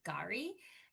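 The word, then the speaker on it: K'gari: Gary. Um as that s the K is silent.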